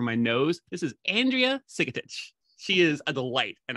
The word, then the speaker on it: Sigetich: pronounce from my throat when i should be pronouncing through my nose this is andrea sigotic she is a delight and i'm so glad